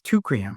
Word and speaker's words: Teucrium: You have to pronounce it for us. Yeah, it's Tukrium.